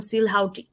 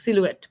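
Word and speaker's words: silhouette: তো আমি এই প্রোনাউন্সিয়েশন করার সময় আমি ওর সামনে বলেছিলাম সিল হাউটি। হ্যাঁ, কারণ এটার বানানটা হচ্ছে এরকম, SILHOU ETTE বা TTE, আমি মনে বলতে ভুল করলাম, বাট যাই হোক সিলুয়েট।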